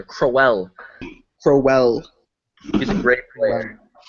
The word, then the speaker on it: Crowell: Gotta pronounce every letter. Crowell.